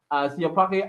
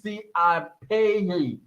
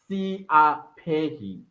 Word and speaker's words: Siapei: Siapake, I'm going to cry. My name is Siapei. Don't cry. I apologize. Siapei.